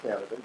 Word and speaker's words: Canada: it is it pronounced Canada yes it is it's just like the country is always people so